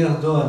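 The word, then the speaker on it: Erdoğan: On dit Erdogan, ça se prononce Erdogan, mais c'est Erdogan si vous préférez.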